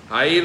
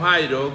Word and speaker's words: Jair: Jair, luego ese nombre es transliterado al griego y se pronuncia como Jairo, que significa Dios ha iluminado. Jair y Jairo es lo mismo.